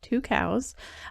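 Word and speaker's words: Tucows: through the company called two cows so that's how it's actually pronounced as two cows they are best known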